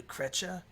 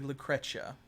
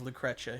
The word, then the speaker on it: Lucretia: do you know the cretcha the cretia you know it is actually it is canonically lucretia that's why it's spelled with a c instead of a t i'm sorry yeah it is lucretia he said they say